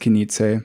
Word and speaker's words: Knize: My last name is Knize, but it's pronounced Knize for the brand.